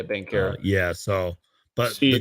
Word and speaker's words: Banchero: How do you say his last name? Bencaro? Yeah, Bankero.